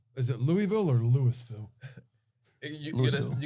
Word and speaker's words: Louisville: Kentucky versus Louisville. Is it Louisville or Louisville? You Louisville. gotta say it like you have Louisville. like you're something like you're drinking water. It's Louisville. It's one Louisville. big just slur.